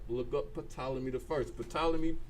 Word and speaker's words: Ptolemy: Ptolemy spelled with a P. PT. Don't ask me where they get that from, but it's PT. That's how it begins.